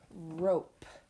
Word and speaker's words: rope: Our next picture is a picture of rope. R-O-P. Rope. Please write rope underneath the picture. R-O-P. And that O is making the long vowel sound O because of that silent E at the end.